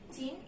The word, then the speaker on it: চিহ্ন: এটাকেও আমাদের এটাকে ভাঙাতে হবে, চিন, এই অবধি আমরা একটা উচ্চারণ করি, তারপরে হো উচ্চারণ করি।